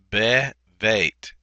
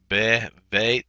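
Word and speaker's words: בְּבֵית: So what happens is the dagesh lene that was normally in that beit for bait drops out, and so it's bevet, bevet David, bevet David is how we would pronunciate that.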